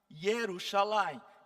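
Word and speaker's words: ירושלים: Agora, algumas curiosidades assim, Jerusalém, que se fala Jerusalém. Yerusalim.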